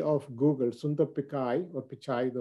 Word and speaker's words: Pichai: Right to that image is the current CEO of Google, Sundar Pichai, or Pichai, the right way to say it.